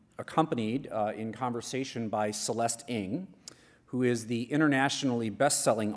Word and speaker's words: Ng: It's pronounced Ng, but I should have let you do that.